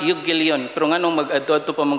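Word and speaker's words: εὐαγγέλιον: Gospel is in a Greek, it's pronounced euangelion.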